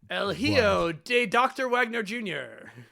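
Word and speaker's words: El Hijo del Dr. Wagner Jr.: El Ho Da El How do you pronounce that? Elio de Dr. Wagner Jr.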